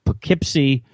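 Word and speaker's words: Poughkeepsie: dat and I'm like what the heck is that p u GH and and then I was like okay that's pipy that's what he's saying I I didn't realize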